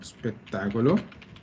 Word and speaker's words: spettacolo: Molte volte tendiamo a mettere una E fantasma, vero? Allora, sì. L'italiano è fatto apposta significa a proposito, in un certo modo. Io dico quello spettacolo perché così posso pronunciarlo come una sola cosa. E dire quello spettacolo. Se io lo pronuncio tutto insieme, quello che faccio è che la E fantasma non la dico mai.